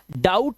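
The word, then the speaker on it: doubt: इसी तरह से इसको हम डाउट पढ़ते हैं। डाउट इसका बी साइलेंट होता है।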